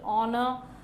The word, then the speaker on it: honor: Because we should not pronounce the first letter H here. It is honorable, honest, honorable, honor.